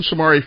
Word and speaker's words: Shomari: Shomari, is that how you pronounce it? Shomari. Like Somalia and stuff like that, you know.